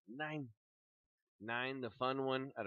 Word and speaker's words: Nein: It looks like it's the word nine, but like the way a German would say it. Nein.